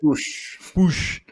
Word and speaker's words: Puig: The word is that Ricky Push. They that's how they say it. That's kind of how they pronounce it. Push.